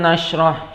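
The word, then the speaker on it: نَشْرَحْ: Alam nashrah, shinnya dibesarkan karena ini adalah shin besar, jadi harus kelihatan terdengar seperti keras, ya.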